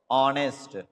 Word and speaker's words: honest: to pronounce a world as if the h is silent our honest aid so i have been waiting here for